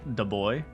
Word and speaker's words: Dubois: Dubois? Of course. It's actually pronounced the boy.